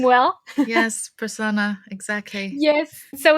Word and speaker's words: Prasanna: I don't know if I pronounce his name well. Yes, Prasanna, exactly.